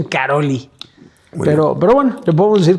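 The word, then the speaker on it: Károlyi: Se escribe Karol G con Y al final, pero es Karolyi, así lo pronuncian. Yo en mi mente todo este tiempo pensé que era Karol G.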